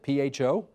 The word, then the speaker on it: pho: Now, you apparently have changed because we've looked at your Instagram account, and here's some homemade beef pho, I guess. Is that how you pronounce it? P-H-O?